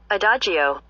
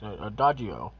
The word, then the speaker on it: adagio: other language i'm offense but i don't huh adagio oh that's nice adagio okay see i didn't know something i i